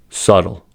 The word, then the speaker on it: subtle: Second, B is usually not pronounced before T. These are examples: debt, doubt, debtor, doubtful, subtle.